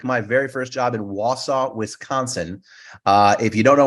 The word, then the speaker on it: Wausau: No, originally when I actually applied, I mispronounced the name. I thought it was Wausau. I didn't know it was Wausau.